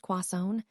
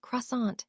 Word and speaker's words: croissant: Do you say it like the French quason or do you anglicize it croissant?